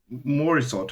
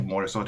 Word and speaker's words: Morisot: And actually Berthe Morisot exists and Mor- Morisot. I think Morisot is right pronunciation.